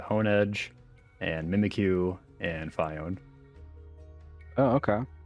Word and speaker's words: Phione: when you were saying Phione. I have only ever heard it pronounced Fione, but Oh, I'd never heard that.